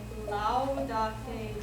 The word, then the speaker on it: Laudate: If you see these vowel groups together, you're going to pronounce both of the sounds. So this would be ow, ew, and I.